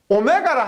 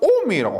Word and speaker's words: 옴: 단위는 오메가라고 하는데, 오메가를 하지 않고 우리가 옴이라고 합니다. 이것을 우리 읽을 때 오메가라고 읽을 때 있는데, 전기를 공부할 때는 오메가를 하지 않고 옴, 저항의 단위는 옴이라 그럽니다.